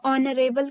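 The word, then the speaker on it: honourable: N Narel ठीक है एच है लेकिन इसको जब हम प्रोनाउंस करते हैं तो नरे बल करते हैं तो हमारा एन लगता है उसके पहले ठीक है तो हमारा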